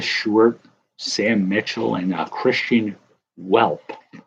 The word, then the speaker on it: Welp: Purvis Short, Sam Mitchell, and Christian Welp. But I think it's pronounced Velp.